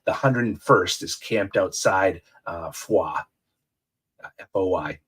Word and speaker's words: Foy: of Bastogne, the 101st is camped outside Foy, F-O-Y, pronounced Foy.